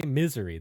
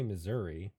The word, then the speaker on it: Missouri: just how locals pronounce it, Beth. They say misery. They don't say Missouri.